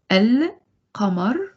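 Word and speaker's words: القمر: This is really funny because when you say al-qamar, you do pronounce the lam.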